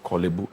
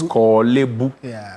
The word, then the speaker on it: Korle-Bu: It's not Korle-Bu. It's Korle-Bu. The Korle is there, so Korle-Bu Teaching Hospital. Now, I have it's Ghana man, so it's appropriate that we even learn the right pronunciation of Korle-Bu and there's Korle-Gono on